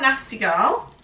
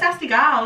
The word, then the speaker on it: Nasty Gal: So this is from Nasty Girl. Nasty Girl. Well, it's Nasty Gal, isn't it? It's spelled like gal.